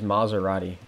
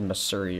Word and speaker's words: Maserati: Your name is Maserati, and I said Missouri or something like that.